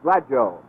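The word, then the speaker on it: Gladieux: himself and he said he would prefer to have it pronounced glad joe and jim i think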